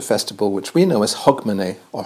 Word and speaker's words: Hogmanay: which we know is Hogmanay or Hogmanay it's pronounced in Scotland and here in Germany